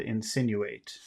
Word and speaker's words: insinuate: Which syllable has all of the power in the word insinuate? Sin, Can you insinuate, insinuated? Insinuated. The other sounds are small.